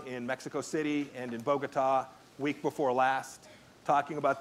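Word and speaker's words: Bogotá: Pompeo needs to know is it's Bogota, accent on the last syllable, not Bogota.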